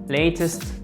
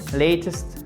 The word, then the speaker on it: latest: Et là, vous avez entendu? Latest, latest, latest. Le T aussi, il a tendance à se transformer en D. C'est exactement la même chose qu'on a vu ici. Vous voyez, on a ici une voyelle, un A et ici un E, une autre voyelle.